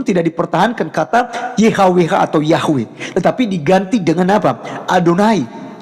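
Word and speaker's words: Yahweh: Pencipta langit dan bumi adalah y he W he yang kita kenal sebagai yahwe ya kita bacanya sebutnya yahwe Nah jadi teman-teman sekalian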